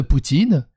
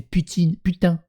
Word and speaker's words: Putin: Invariablement en France, au Québec et dans d'autres pays francophones, le président russe s'écrit Vladimir Poutine, alors que normalement c'est putain. Normalement c'est putain, P-U-T-I-N. On devrait dire Vladimir Putain.